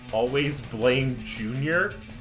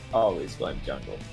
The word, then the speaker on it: Always Blame Junior: Excuse me, it's pronounced Always Blame Junior. What? That's Seraphine. The Seraphine's name is Always Blame Junior. Not Always Blame Jungle.